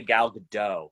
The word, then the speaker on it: Gal Gadot: You want to say Gal Gadot, but the T is actually not silent. Gal Gadot. Thank you.